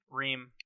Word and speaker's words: Ream: Ream.